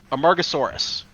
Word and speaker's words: Amargasaurus: This is known as a I'm gonna mispronounce this. Amargus Amargasaurus.